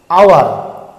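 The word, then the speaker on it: hour: থাকছে হ, এখানে কিন্তু এইচের উচ্চারণ সাইলেন্ট হয়ে যাচ্ছে, এটা কিন্তু হাওয়ার নয়, এটা আওয়ার, তাই এখানে কিন্তু অ্যান বসছে।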